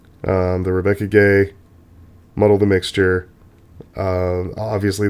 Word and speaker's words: Guay: mud of the mixture a totally Spanish pronunciation we get it's very very gay um the Rebecca gay muddle the mixture uh